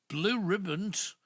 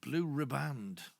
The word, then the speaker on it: Blue Riband: in one go but how do you pronounce it yeah Blue Riband yes I usually call a blue ribbon because but even me mom used to call it Blue Riband for some reason and been